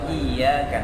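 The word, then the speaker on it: إِيَّاكَ: Iya karena membunuh wa iyyaka nasta'in Hai ini harus pas dibaca Soalnya kalau tanpa tasjid beban Iya tadi bacanya Iya karena gua Iya sakit hatinya kepada cahaya matahari uh aku menyembah kepada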